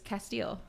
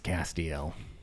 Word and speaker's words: Castiel: the one where the example is Castile Castiel however you pronounce it uh it's Castiel stash is like in